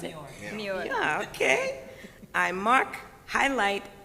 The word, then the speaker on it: Muir: Is that how I pronounce it? Muir.